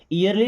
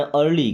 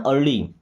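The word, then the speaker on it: early: इयरली नहीं पढ़ना। अर्ली। क्या पढ़ना है? अर्ली।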